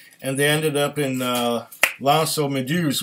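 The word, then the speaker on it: L'Anse aux Meadows: they ended up in L'Anse-aux-Meduses, which is really mispronounced by the Newfies as Lancy Meadows.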